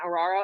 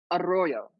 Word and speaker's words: Arroyo: name you say arroyo arroyo i am white as you know no i know i know you can roll the tongue stop